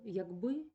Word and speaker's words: як би: часткою або із займенником тоді наголоспаде на перший склад як би краще підготуватися до нмт